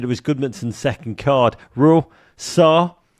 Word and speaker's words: Sarr: Sarr. It only rhymes with VAR, but it's much more effective.